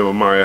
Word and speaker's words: Mamiya: way whatsoever um getting mamia stuff and getting the mamia glass it's just it really is good Mia mamaya however you want to pronounce it that's fine I say mamia you say mamia let's get started with